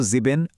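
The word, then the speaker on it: sieben: স্ক্রিনে দেখানো জার্মান বানানের পাশাপাশি এই উচ্চারণগুলোর দিকে একটু খেয়াল রাখবেন, তাহলে সঠিক উচ্চারণটা আয়ত্ত করা বেশ সহজ হবে। এবার বাকি ফাউন্ডেশন নাম্বারগুলো একটু দেখে নিই। 7 হলো জিবেন, 8 8, 9 9, 10 সেহন, 11 এলফ এবং 12 হলো সোলফ।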